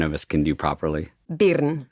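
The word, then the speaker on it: Birn: Will you pronounce your last name, which none of us can do properly? Bern.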